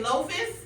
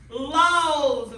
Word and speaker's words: loaves: How do I say it then? Loaves. Very good. So we spell that with a V. L-O-A-V-E-S. Loaves. As you can see, when that word has an F, when we make it plural, we put a V.